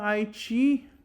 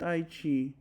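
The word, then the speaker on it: aici: Mereu della linea alba Aichi. Allergend io sunt Aichi. This, I am misreading this. It's actually pronounced Aich, but I didn't know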